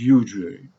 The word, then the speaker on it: usury: Today, we're going to take the second head of the triangle, which is usury, specifically prohibition of usury. Some people pronounce it usury, but common pronunciation is usury.